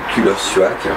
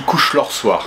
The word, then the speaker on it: Kullersuaq: Est-ce que je prononce bien? J'avais déjà presque, c'est pas mal, mais c'est pas mal quand même, mais ça se dit Couche-leur-soir. Ouais, ouais. Et c'est un piège, il y a en fait plein de syllabes qu'on n'a pas en français, donc...